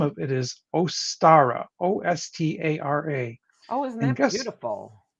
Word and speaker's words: Ostara: Spring Equinox uh the name of it is ostara o-s-t-a-r-a oh isn't that beautiful guess what that